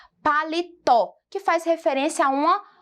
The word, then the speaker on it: paletó: então é essa daqui se nós esquecemos aqui um por um minuto o acento como ficaria a leitura dessa palavra crianças ficaria paleto paleto Olhem só olha a diferença de pronúncia colocando o acento nós temos então a palavra com a grafia correta paletó que faz referência a